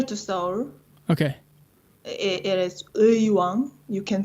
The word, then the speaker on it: Uiwang: It is Uiwang. You can pronounce it. Uiwang. Irwang.